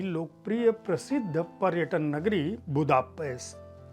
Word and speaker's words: बुदापेस्ट: तो वो बुदापेस्ट को इसलिए कहते हैं क्योंकि ट और ड जैसी कठोर ध्वनियों का उच्चारण हंगेरियन में नहीं होता, यानी ड और ट है नहीं तो ये बुदापेस्ट ही होगा।